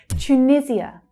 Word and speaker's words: Tunisia: Tunisia, Tunisia. So notice here the Y consonant sound. Tu, tu. Not tu, but tu.